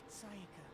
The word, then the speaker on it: Sayaka: Sayaka. Sayaka. Okay. That's how it's pronounced.